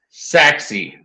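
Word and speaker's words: Sachse: Prosper Allen Frisco Richardson Saxy I just learned how to pronounce saxi today it's spelled sa I or something like that but I figured out how to spell it Saxy those are the five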